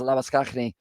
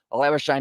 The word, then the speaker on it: Labuschagne: Africans in terms of they would pronounce it as Labuschagne, but instead, Labuschagne, he goes with Labuschagne.